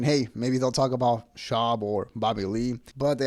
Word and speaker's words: Schaub: See the Brendan Schwab, I keep saying his name wrong. It's Schaub.